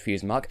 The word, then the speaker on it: Fusedmarc: is called feuds mark i think it's pronounced fuse mug and it consists of